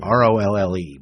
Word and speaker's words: Rolle: R O L L E but it's pronounced Rolle.